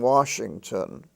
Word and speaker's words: Washington: and show how it's divided into 3 syllables: wash, ing, ton. So now you can see the phonetic structure of the word wash, ing, ton. You're not looking at a picture. You're looking at three syllables. Three syllables. How would you say, 3 sounds or 3 syllabic units, each of which has a vowel in it. Ah for Washington, I for ing, and ton, for ton, Washington.